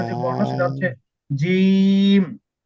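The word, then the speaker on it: جيم: জি না জিম না জিম না জিম বলতেছেন হয়তোবা শোনা যাচ্ছে জিম জিম জিম না জি একটু দীর্ঘ করে জি একটু আওয়াজটা জমা জমাট হবে মানে ছেড়ে দিবেন না আওয়াজটা একটু জমা করে বলবে জি জিম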